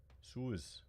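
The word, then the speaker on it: Sioux: Okay, so Swix. Tribe welcomes you. You know what? I'm gonna look up. How to pronounce it. Suez.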